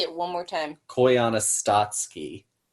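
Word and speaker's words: Koyaanisqatsi: Koyana Statsky. How do you spell that?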